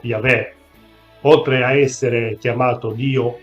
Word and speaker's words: Yahweh: Nell'Antico Testamento, ovvero nelle scritture ebraiche, Dio viene indicato principalmente circa 7000 volte, col nome proprio YHWH, probabilmente pronunciato Yahweh.